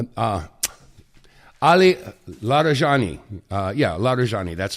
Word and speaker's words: Larijani: Uh yeah, Larjani.